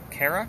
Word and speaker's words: Kara: I want Kara, am I pronouncing that properly?